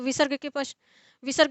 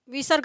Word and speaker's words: विसर्ग: इसके पश्चात विसर्ग, तो विसर्ग के संबंध में कह रहे हैं कि यह किंचित ह के सदृश उच्चरित होता है।